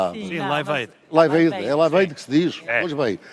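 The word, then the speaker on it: Live Aid: Lembro-se do movimento Lived? Sim, a minha pronúncia é má liveid que se diz.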